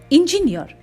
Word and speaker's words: engineer: Engineer. The second syllable is de-stressed, jiff, and the third syllable is stressed, near. So we say it engineer.